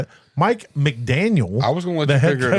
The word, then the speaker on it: McDaniel: Mike McDaniel. Is that it? That's not how you say it. Mike McDaniel.